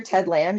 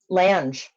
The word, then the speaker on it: Lange: And I just And if you look at the actor, Ted Lange, he's the only one from the original cast that actually looks the same.